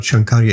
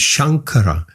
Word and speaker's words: Shankara: No, it's not Shankarya, it's Shankara.